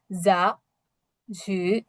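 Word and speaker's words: 杂志: আর এটা হচ্ছে ঝু, জিহ্বাটা পিছনের দিকের তালুর সাথে লাগছে, ঝু, যা ঝু, যা ঝু।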